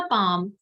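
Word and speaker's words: palm: को हम बोलते हैं पाव कि यहां से लेकर यहां तक हमारा है पाऊंगा यह हाथ का प्लेलिस्ट और पाम इन इस मेल साइलेंट होता है इसको पाल में नहीं बोलते इसको पांव बोलते पांव प्लेस और पांव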